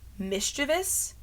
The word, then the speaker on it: mischievous: to say the word mischievous and they say mischievous. If you look at how it's spelled, it is not V-I-O-U-S. It's not vious, it's bus.